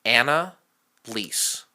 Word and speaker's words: Annalisse: Annalisse. Okay. Yeah. So, like, DSJJR's mom is Anna, and she can't pay her lease.